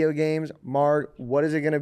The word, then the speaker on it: MARG: Spotify is just Marg, MARG. It's pronounced Marg, by the way. I feel like a lot of people don't know that. Mm-hmm. Which is just like half or quarter my name, Margarita.